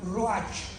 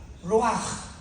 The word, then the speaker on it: ruach: Apunta la palabra espíritu en el hebreo, es como suena ruach, R de Raúl, U-A-C-H, pero la CH en el hebreo se pronuncia como J, ruach.